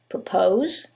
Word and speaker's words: propose: same word stress however in the first one it's the second syllable that's stressed and in the second one is the first syllable and that changes the pronunciation completely the first word is propose and the second word